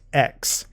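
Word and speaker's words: ἐξ: used therefore of here the word ech looks a little different it's pronounced X and the reason why it looks different is because it precedes a vowel if we look at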